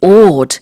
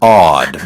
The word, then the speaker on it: awed: Mine is Canadian, so I say odd. Okay. And it sounds exactly like ODD.